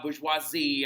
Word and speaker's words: bourgeoisie: that word right there very important that we actually say it correctly it's a very common last name down here Bourgeois bourgeoisie all right so like now look the thing about it is when you're saying it in French you can say bourgeoisie